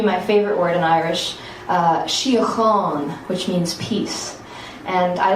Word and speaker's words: síocháin: And it takes that ch before you get to the on, síocháin.